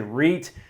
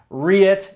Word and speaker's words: REIT: to cover pronunciation because there's lots of different ways you can pronounce reit so you can say read read it and this all stands